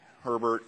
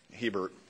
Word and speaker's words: Herbert: particularly I want to ask uh Governor uh Hebert Herbert Herbert you would think that's the traditional pronunciation uh because Nebraska and Utah are similar